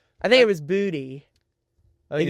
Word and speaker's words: Boutte: So, Pro Football Reference pronounces Keyshawn Boutte. Booty.